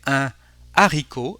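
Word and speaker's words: un héros: we have a lien but with an unplug H we will say a Aro a no for words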